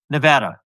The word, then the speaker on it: Nevada: Wait, Steve, how do you pronounce the state he's from? Nevada.